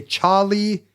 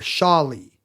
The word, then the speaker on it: Charlie: You can say Charlie or Charlie, because if you're in a language where like French, where CH is sh, not ch.